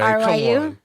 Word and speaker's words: Ryu: Now, how do you pronounce this? R? Oh, no way. No way. R-Y-U? Come on. You know it. Come on. R-Y-U? Ryu. You know who Ryu is?